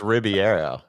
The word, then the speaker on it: Ribeiro: I think it's Ribeiro, like the Riviera.